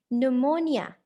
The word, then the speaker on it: pneumonia: Pneumonia, P is silent.